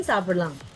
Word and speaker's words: சாப்பிடலாம்: But when you're pronouncing it, the ma becomes a சாப்பிடலாம். You don't say lam. lam. You don't say lam. You say சாப்பிடலாம். Oh, okay. The m becomes very silent.